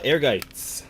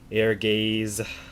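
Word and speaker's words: Ehrgeiz: when i was younger a lot of people had a hard time pronouncing the name they would say uh air gaze um ergaze but yeah right there playing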